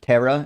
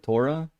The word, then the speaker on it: Torah: You've probably heard like uh Rabbi Tovia say uh terra instead of Torah. The toyra.